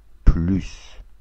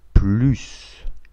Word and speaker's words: plus: Осторожно. S читается. Plus. Например, ты должен есть больше. Tu dois manger plus. S читается. Мы уже видели, как переводится не больше. Не больше это не plus. Но здесь S не читается. Например, я больше не хочу есть. Je ne veux plus manger. Здесь S не читается, здесь S читается.